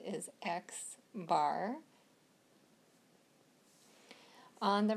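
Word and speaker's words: x̄: the left hand side they've got the xar and that's how we um that's actually how we say it is xar on the right hand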